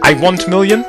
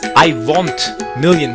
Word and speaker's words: Iwontmillion: Iwontmillion. It is Iwontmillion with an O. Pronounce it in a European style.